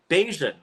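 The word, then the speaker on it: Bajan: Barbados food is called and that is beian it's spelled B A J an all right I love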